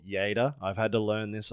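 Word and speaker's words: Lleida: saying your town wrong it's spelled l l e d a and as an English speaking person I would say later ler yeah but it's y y yeah how do you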